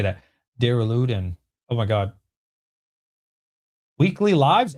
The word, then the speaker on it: Duraludon: Duraludon.